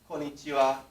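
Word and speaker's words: こんにちは: usually will say and this can be h a or it can be wa but it's pronounced so let's say konichiwa and this just means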